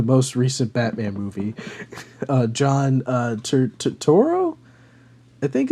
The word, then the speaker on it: Turturro: I don't know how to say his last name, but he was in the most recent Batman movie, John Turturro.